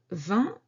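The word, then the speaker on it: vingt: 20 has particular spelling, which is V-I-N-G-T. G-T, these last two letters are silent. And this syllable, 20, c'est une syllabe nasale.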